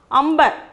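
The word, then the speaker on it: अंबर: The meaning is sky, but the pronunciation is what? Amber.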